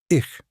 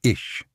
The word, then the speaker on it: ich: Ich, that means I. And one warning, soft H is not sh. Don't say ish. It's softer, airier, almost breathy.